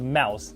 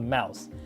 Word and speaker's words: Mous: buying this case here from a company called mouse it's spelled m-o-u-s and i really like the way